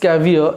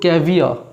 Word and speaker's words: caviar: এখানে একটা নতুন একটা আমি ওয়ার্ড পেলাম, দেখো, ক্যাভিয়ার। এটার প্রনাউন্সিয়েশনটা হচ্ছে ক্যাভিয়ার, ক্যাভিয়া, আর কিন্তু উচ্চারণ হয় না, CAVIA অবধি উচ্চারণ করো।